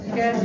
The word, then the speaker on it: Melchizedek: po dito then melek I want you to pronounce that name very well melkisedek melek One More Time meles milde king of